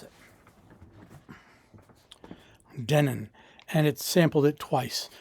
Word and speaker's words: Denon: Okay, so the internet tells me it's Denin, which is fine with me. I'll pronounce it however they want me to pronounce it. Denin.